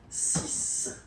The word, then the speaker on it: six: And be careful here, because even if it's ending with this X, well, you will have to pronounce it like S. Okay, so you get the six pronunciation.